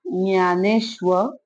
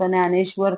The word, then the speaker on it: ज्ञानेश्वर: सिर्फ पढ़ने के लिए हम हिंदी में इसको ज्ञानेश्वर पढ़ेंगे। ठीक है? मराठी में ज्ञानेश्वर, हिंदी में ज्ञानेश्वर।